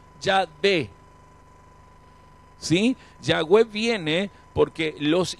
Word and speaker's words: Yahvé: Ese nombre, conformado por Yud, Hei, Bat, Hei, letras hebreas, es Yahvé, no Yahweh como se dice en la pronunciación sajona. Yahvé.